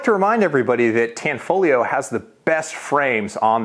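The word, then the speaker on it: Tanfoglio: gonna bring us to tanfolio there's a silent g in tanfolio and that makes you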